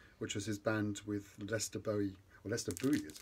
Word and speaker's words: Lester Bowie: Staying with the ECM label, then went for Jack DeJohnette's New Directions, which was his band with Lester Bowie, as it's pronounced in America, John Abercrombie and Eddie Gomez.